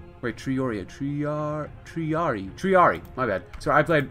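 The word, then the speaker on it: triarii: And nova triorii. Wait, triari.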